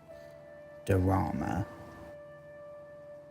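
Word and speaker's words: Daura: I think it's Dorama. Like drama, but with a space between the D and the R. Dorama.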